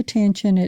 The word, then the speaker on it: Chios: Voici comment Ion de Chios (prononcé KEE-os) l'exprimait : Connais-toi toi-même.